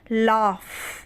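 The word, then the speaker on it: laugh: लेकिन पढ़ेंगे क्या राइट पढ़ेंगे तो डब्लू इसमें साइलेंट रहेगा फिर है एल ए यू जी एच इसे पढ़ते हैं लाफ क्या पढ़ते हैं इसे लाफ पढ़ते हैं ठीक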